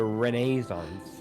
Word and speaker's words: Renaissance: During the Renaissance, Renaissance? which is how you pronounce it.